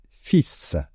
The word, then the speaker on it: fils: Attention à la prononciation, un fils.